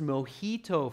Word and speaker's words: mojito: And it's pronounced mojito for those of you that aren't sure.